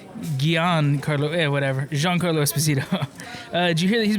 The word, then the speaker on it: Giancarlo Esposito: I used to think, until I'd seen it written, I thought his name was Giancarlo Esposito. It's Giancarlo Esposito. Yeah. So is that how you say it, Jean? Giancarlo Esposito. Gian?